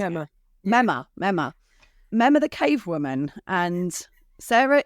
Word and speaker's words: Memma: Is that the right way to pronounce it? Memma.